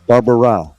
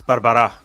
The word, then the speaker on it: Barbara': hate doing that so I'm going to say Manuel Barbara close it's Barbara but uh you know